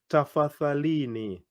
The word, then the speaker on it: tafadhalini: Tafadhalini. Whoa, it's a long word. I want to hear your pronunciation.